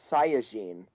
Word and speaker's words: Saiyajin: What's the proper pronunciation, Nick? Saiyan. In the Japanese, it's Saiyajin.